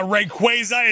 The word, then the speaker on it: Rayquaza: Uh, Rayquaza is definitely the correct pronunciation.